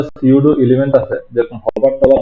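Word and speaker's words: pseudo: হচ্ছে হোভারের মতো একটা পিসিউডো এলিমেন্ট আর কি, ওগুলোকে বলা হয়েছে পিসিউডো এলিমেন্ট বা পিসিউডো ক্লাস বলা আর কি, বা সিউডো ক্লাস, নরমালি পিতে উচ্চারণ হয় না, সিউডো ক্লাস বলা হ্যাঁ, হয়।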